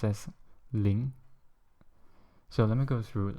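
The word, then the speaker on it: 零: to show you once more and zero is pronounced as Ling so let me go through like 0er to n again so it's Ling E so um that's basically how you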